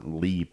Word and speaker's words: Leap: place that's more haunted than LEP or leap as we want to say in the US because it's spelled leap any place with a